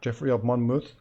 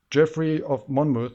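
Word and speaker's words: Geoffrey of Monmouth: one of our viewers corrected me on my pronunciation so now hopefully I'm getting that right Jeffrey of Monmouth this is the the legendary history of Britain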